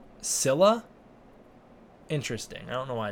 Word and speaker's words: Scylla: little secret cylla is pronounced like Zilla but with an s instead of a Z it's pronounced Silla interesting I don't know